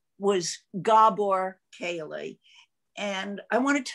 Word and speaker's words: Gabor: So what I wrote, because we're here about the 7th annual Gabor Kaley lecture, and that's how it's pronounced, Gabor.